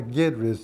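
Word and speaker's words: Guedry: And actually, Gaidry is spelled G-U-E with the accent aigu, which means E sounds like an A.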